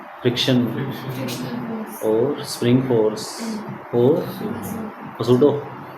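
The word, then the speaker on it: pseudo: और spring force और सूडो silent होता है सूडो force gravitational normal friction tension spring and सूडो सबके बारे में बता दो।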